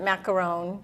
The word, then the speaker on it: macaron: is definitely a difference the French pronounced it macaron but most of us